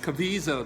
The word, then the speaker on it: Caviezel: And Jim, and I always get his name wrong. Caviezel. Caviezel, that's it.